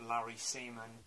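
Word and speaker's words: Larry Semon: and you also have larry seaman yeah as the scarecrow yes that really is how to pronounce his name from what i can tell and then this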